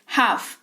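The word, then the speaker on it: half: रहे हो ठीक है हाफ एच ए एल एफ अ यहां पर है इसकी स्पेलिंग लेकिन एल जो है वो साइलेंट रहता है ड्यू टू साइलेंट लेटर्स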